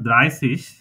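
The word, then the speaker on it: dreißig: আমরা অনেক সময় জুস বলি বাচ্চাদের ক্ষেত্রে আর ড্রাই সিস এটা হচ্ছে জুস তাইতো জুস হ্যাঁ জুস জুস না জুস জুস মুরগি জয়ের মত জুস হ্যাঁ জুস জুস আচ্ছা এটা হলো ড্রাইসিস ড্রাইসিস মানে হলো থার্টি বা 30 ড্রাইসিস আমরা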